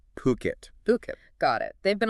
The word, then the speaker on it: Phuket: And uh let's nail the pronunciation straight away. It's Phuket, not Fiket. Puket.